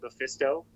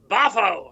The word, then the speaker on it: Mephisto: That was another thing, is that Mephisto, Mickey Rooney could never pronounce Mephisto. He kept going like Bafo or Beefeater or Ballistra.